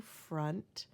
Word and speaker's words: front: The O sounds like a U, front, and that might be a dialectic thing for us.